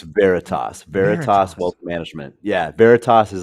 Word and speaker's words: Veritas: you just told me I'm sorry I just butchered the name of the company can you say it again before we it's Veritas Veritas wealth management yeah Veritas is a Latin word